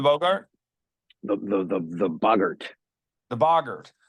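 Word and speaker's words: boggart: The the the the bogurt. The bogurt. See, I'm pronouncing it Bogart because I was thinking it was based off Humphrey Bogart, the actor, because it's a thing that becomes whatever you're most afraid of.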